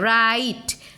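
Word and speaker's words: right: राइट, राइट, एच का pronunciation नहीं हो रहा है।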